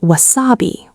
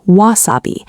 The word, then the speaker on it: wasabi: Mistake number two, pronouncing wasabi as wasabi, with the stress on the middle syllable. In English, the most common pronunciation is wasabi. The stress goes on the first syllable.